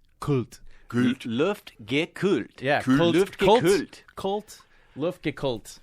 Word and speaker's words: Luftgekühlt: So 3 syllables, Luftgekühlt. Luftgekühlt.